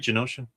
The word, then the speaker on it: Genosha: Am I saying it right, Genosha?